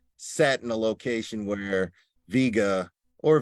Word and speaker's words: Vega: That it's nice, you know, but and I purposely sat in a location where Vega or Vega, as it's pronounced, sat right here, and with haze showing up in this night sky, and this is the Cygnus Rift.